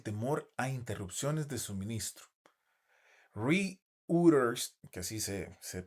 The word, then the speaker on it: Reuters: Reuters, que así se pronuncia, reportó el 2 de abril de 2026